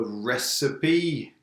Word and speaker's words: recipe: Yeah, you need a recipe. It's a strange pronunciation. Recipe.